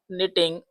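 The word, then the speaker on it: knitting: तो सीमा हैड not been निटिंग a sweater since afternoon. निटिंग का मतलब होता है बुनना। के साइलेंट रहता है और यहां से आप पढ़ना शुरू करिए एन से।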